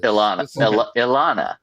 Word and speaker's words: Ilana: It's spelled Ilana. So yeah, Ileana. That's what I said. I know who this is. Ilana.